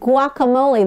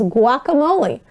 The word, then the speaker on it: guacamole: What food is used as the base of guacamole? That's how you actually pronounce that word. That G-U-A is guacamole.